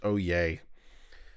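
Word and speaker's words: Oyez: ye Z dot org it's pronounced oh yay and these are the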